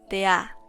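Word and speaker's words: דעה: Después, la palabra ciencia en hebreo es de'a, con acento en la A, que significa conocimiento o sabiduría.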